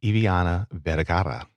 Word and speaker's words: Eviana Vergara: So again, today I have the wonderful, the talented, the roll your R's. I'm gonna do this right. Are you ready for this? I have Eviana Vergara.